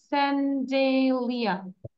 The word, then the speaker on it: chandelier: So আমরা যদি বলি CHN, স্যান্ডেলিয়া, এখানে আর এর উচ্চারণ হয়েছে, বাট আরটা আমরা বলবো না, স্যান্ডেলিয়া, স্যান্ডেলিয়া।